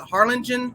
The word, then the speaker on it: Harlingen: may 27th and how do you say that harlingen is that correct yeah carla jean jackson yes